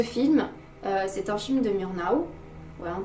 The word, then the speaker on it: Murnau: c'est que ce film c'est un film de murnau ou voilà on prononce comme ça et c'est un film qui